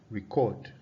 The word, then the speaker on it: record: Consider the word record. Record. The word record, you have, for the noun, you have record. Record. Okay? For it as a noun, the stress is on the first syllable, and it means a